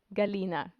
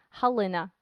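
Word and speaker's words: Галина: my mom's name is galena in russian that's how you say it in ukrainian helena so we have a soft g and when i speak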